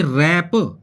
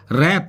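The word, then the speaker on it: wrap: T rest restmins होती है कलाई जैसे की रैप डब्लू आर ए पी होता है व आर ए पी रैप रैप mains होता है किसी भी वस्तु को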